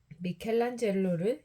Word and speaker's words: 미켈란젤로: 미켈란젤로를 영어식으로 읽으면 대천사 발음과 비슷함.